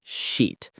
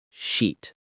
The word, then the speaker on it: sheet: The trick is to make sure you say the sh sound clearly, sheet, not the other word. Practice that sheet.